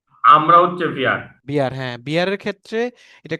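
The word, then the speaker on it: wir: যেটা বললেন কনজুগেশন হয়ে আমরা যদি হয়, তাহলে বিয়ার, আমরা হচ্ছে বিয়ার না? আমরা হচ্ছে ভিয়ার।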